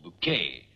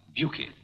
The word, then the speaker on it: Bucket: There seems to be some dispute as to the pronunciation of the names Bucket or Bouquet. It may assist the court to know that both are wrong. In the 16th century, it was always pronounced Buki. Buki.